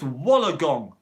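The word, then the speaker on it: Wollongong: three and a half minutes to go it's pronounced wallagong wologong wallengong right look what he said monu yes right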